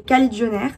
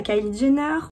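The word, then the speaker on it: Kajillionaire: un film qui s'appelait cali john r je crois et non pas caïd jennar c'était bien la peine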